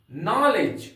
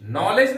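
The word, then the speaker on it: knowledge: लेज उसी तरह से नॉलेज नॉलेज नहीं प नलेज इसको ध्यान रख इसका उच्चारण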